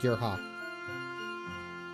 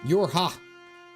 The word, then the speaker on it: YoRHa: Pronounced like Yorha. Yorha.